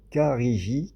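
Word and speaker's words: khariji: Alors ça s'écrit K-H, oula, je sais même plus prononcer, K-H-A-R-I-J-I-I, Kariji, K-H-A-R-I-J-I, et je vous le répète une troisième fois, Kariji, K-H-A-R-I-J-I.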